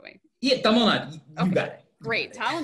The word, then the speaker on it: Tamil Nadu: You pronounce it the right way. Yeah, Tamil Nadu.